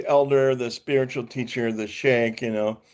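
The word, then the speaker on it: Sheikh: Um and so uh is that pronounced shik or shake? Shake.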